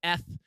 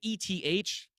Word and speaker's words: ETH: call it erythrium i've had people call it f now granted e t h in my head you would pronounce f but uh eth is definitely the